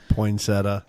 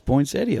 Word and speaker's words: Poinsettia: Poinsetta. Nope. It's Poinsettia.